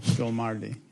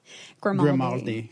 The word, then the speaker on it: Grimaldi: Are you still friends with Vanessa Gilmardi? Are you? And that's one question. You don't know how to say your last name. Did I say it wrong? Yes. Grimaldi. Sorry, mm-hmm. Italian.